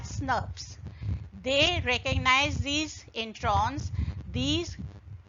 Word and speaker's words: snRNPs: They get associated with ribonucleoproteins, so snRNPs, pronounced as SNRPs.